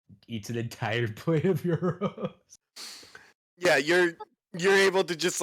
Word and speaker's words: gyros: All right, and so you're presented with pretty well made gyros. Nice. I hate when people pronounce it gyro. I know. Yes. I always say euros.